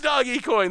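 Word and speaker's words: Dogecoin: people who were like, no, there's no way it's actually Doggy Coin. But it is Doggy Coin. The dictionary confirms it.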